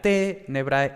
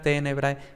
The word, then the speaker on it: tenebrae: era tenebrae, era cátedra, porque los grupos de muta cum liquida no formaban posición, entonces la sílaba anterior no era larga y por tanto el acento recaía en la sílaba anterior, ¿no? Entonces, íntegra, tenebrae, cátedra.